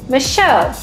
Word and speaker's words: Machaut: a dominant composer named Michelle Michelle is spelled m a c h a u t and in this case in France of course the c h makes the Sha sound um I honest to